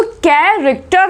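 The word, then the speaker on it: character: कैरेक्टर बोल रहे हैं। यहाँ पे एच साइलेंट आप देख सकते हैं।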